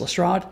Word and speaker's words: Lestrade: this job sack one it is actually unclear whether is pronounced Lestrade oldest trade it has been pronounced both in various adaptations there is no commonly accepted pronunciation generally people defer to the way he was pronounced in the basil rathbone films which is Lestrade and that's why a